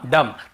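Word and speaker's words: dumb: सब वर्ड्स में हम एम का बी का उच्चारण नहीं करते हैं। कॉम, बॉम्ब, थम, डम, थंब ऐसे बोलते थे, याद रखिए।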